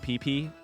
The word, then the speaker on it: PP: The key to talking about PP in Pokemon is to put the emphasis on the second P. It makes it sound less like a wiener.